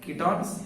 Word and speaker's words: ketones: केटॉन्स नहीं, कीटॉन्स।